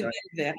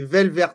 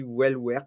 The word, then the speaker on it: Welwert: Mon nom, c'est Velvert, en fait. Les W se prononcent V. Mais c'est pas ok. grave. C'est Velvert alors.